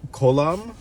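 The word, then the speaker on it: kolam: of art called the i can't i'm gonna pronounce this wrong so just i'm so sorry um column k-o-l-a-m there's a accent mark over the o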